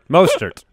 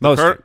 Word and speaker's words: Mostert: And for those who don't know, the Colonel, of course, is Raheem Mostert. Mostert. Yes, Mostert. Colonel Mustard. Colonel Mustard. That's why you say Colonel Mustard. That's a pronunciation benefit.